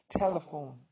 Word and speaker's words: telephone: For example, words that have the stress, three-syllable words that have the stress on the first syllable include telephone, not telephone. It's telephone.